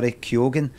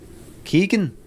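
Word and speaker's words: Keoghan: thanks the sub ha is pronounced bar kogan it turns out that bar kogan who himself says bar kogan that's not the only way to say that there's people in Ireland who disagree Keegan I'm keeping that out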